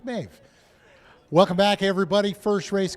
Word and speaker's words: Maeve: I used to watch the series The Boys, so I knew it was Maeve. A lot of people are telling, how do you say that? It's Irish Maeve.